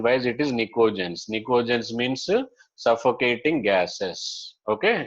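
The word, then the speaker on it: pnictogens: But P is silent. Spelling wise, it is pinicogens, but pronunciation wise, it is nicogens.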